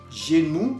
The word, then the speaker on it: genou: Tenemos otro ejemplo, genou. Genou, que significa rodilla, la rodilla. Al final estamos oyendo OU. OU, que quedamos que se pronunciaba U. Entonces, leyendo todos juntos, vamos a decir genou. Genou.